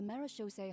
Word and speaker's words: Marechaussee: You may or may not have heard, but Fontaine once played host to a group known as the Marechaussee Hunters. That's how you pronounce that.